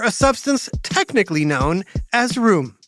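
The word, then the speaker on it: rheum: substance technically known as room but not like living room or bedroom this room is spelled r h e u m and it's g r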